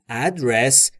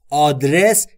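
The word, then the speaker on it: address: ما یعنی مال من ادرس به همین تلفظ آدرس ادرس یا هر چیز دیگری نیست ادرس ادرس یعنی آدرس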